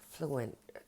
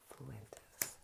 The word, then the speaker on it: Fuentes: and I will stick them on them this is a crazy mind so let's look at Nick fluent Fuentes I said it right the first few times Nick Fuentes oh we got the